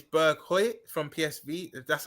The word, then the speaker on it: Berghuis: to, Bergwijn, Kudus, Tadic, and I think it's Berghuis from PSV. That's how you pronounce it. Berghuis.